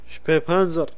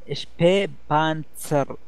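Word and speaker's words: Spähpanzer: شبي بانزر. شبي بانسر تاسين تاسين، زد ما ينطق زد بالألماني، تاسين بانسر. شبي شبي بانسر.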